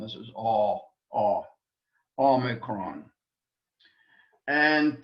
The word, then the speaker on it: omicron: Omicron is a vowel again, and really shouldn't give us any problems, except in the pronunciation of it, that we don't confuse it with the long O sound.